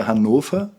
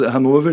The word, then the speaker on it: Hannover: Porque em alemão mesmo a pronúncia é Hanofa, né? Eh, mas Hanover é é aceito, é correto, né?